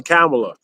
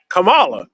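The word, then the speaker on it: Kamala: I just even I haven't even heard her say, "Call me Camela." I only heard her aids and people around her. Like, it's just what Americans say. Like, you look at her name, it's not an American name. And it pronounces as Camala and it's not trying to be dis disrespectful.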